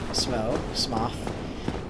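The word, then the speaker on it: Smough: a statue of small smoke his name is never given a pronunciation guide so i think anybody who doesn't say smo is just wrong no it just goes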